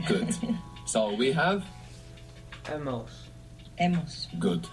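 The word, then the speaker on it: hemos: good so we have Emos Emos good how do you spell a h a h e h e good and that H comes from Abel that silent h that you have there good so how would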